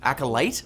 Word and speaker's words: The Acolyte: the Star Wars series The accolate is that how you say it acolyte I never watched Star Wars it's lame first of all you second of all it's the acolyte apparently the costume of